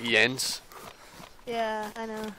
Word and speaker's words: Jens: pronouncing it, but it's, Jens. Jens? Oh, you did good. Other people just call me Jen. Yeah. Because in like English, we everything's like the J kind of sound instead of like, but